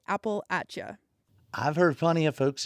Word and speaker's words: Appalachia: And so, before I moved out to West Virginia, I always said Appalachia. That was the only way I'd ever heard it out west. Um, but I quickly realized that more commonly people say Appalachia. And so now, that's what I say. I say Appalacha.